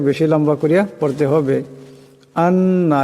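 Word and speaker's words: أنّ: আন্না, এখানে নুন মুসাদ্দাদ, এখানে নুন মুসাদ্দাদের একারের পরিমাণ গুণনা করিয়া পড়তে হবে।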